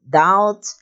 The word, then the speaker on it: doubt: v words in which the b is silenced before the letter t these words are death doubt and saddle adapt